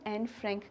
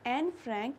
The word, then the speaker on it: Anne Frank: जो प्रोनाउंसिएशन होता है, इट्स नॉट एन फ्रैंक, इट इज़ एना फ्रांक।